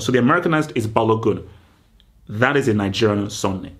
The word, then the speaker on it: Balogun: So in America, you say Balogun. No. In Nigeria, you do not pronounce the N. It's Balogun. Balogun.